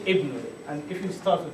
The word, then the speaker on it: ibn: Like if it's at the beginning of the word of the sentence, you say ibn, and if you start with it.